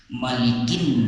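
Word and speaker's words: مَالِكِ: Kita contohkan, Qul a'udzu birabbin nas, malikin nas. Namun di dalam surah Al-Fatihah ini, sebagaimana kita sampaikan di awal tadi, itu cara membacanya lebih banyak kesepakatan para ulama adalah dipanjangkan. Bagaimana bunyinya? Maliki Yaumiddin.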